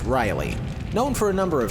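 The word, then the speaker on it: Riehle: And forgive me for spelling this name out, I'm a little dicey on the pronunciation, but Richard Rielhe, which I'm guessing is pronounced Riley.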